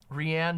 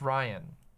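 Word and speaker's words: Rian: called Knives Out um rhianne Johnson notes I think it's Ryan I think it's pronounced Ryan uh and Ryan Johnson is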